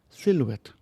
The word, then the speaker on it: silhouette: the carpet floor yesterday silhouette silhouette not silhouette ไม่ต้องออกเสียง h หลัง l จึงเป็น silhouette the silhouette of the